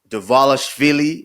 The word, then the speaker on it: Dvalishvili: UFC 316, as it is pronounced. 316. It's a stat card. Dvalishvili versus O'Malley 2.